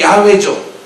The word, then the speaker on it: 야훼: 우리가 여호와 하나님이라고 말할 때 여호와, 더 비슷한 발음이 야훼죠.